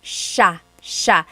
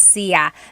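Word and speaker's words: siya: It's sha sha. The si y combination makes that sha- sound. It looks like it should be pronounced sia.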